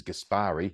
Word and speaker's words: Gaspari: I can say it because it is Gaspari. He said it rhymes with Aspari.